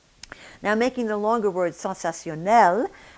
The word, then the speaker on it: sensationnel: Now making the longer word sensationnel, at the end of that word we have the syllable nel, and here again we have the N.